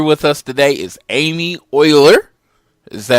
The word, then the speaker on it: Euler: Here with us today is Amy Euler. Is that how you pronounce it?